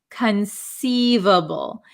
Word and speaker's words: conceivable: first word is conceivable conceivable so this C uh is not a hard C it is a soft C conceivable conceivable okay so